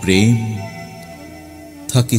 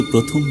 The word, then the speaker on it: প্রমথ: প্রমথ চৌধুরীকে তুমি বলতে প্রথম চৌধুরী।